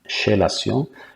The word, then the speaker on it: chélation: Donc ça s'écrit chélation, mais ça se prononce chélation.